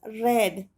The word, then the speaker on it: read: it is passed in it is pronounced as red red red red are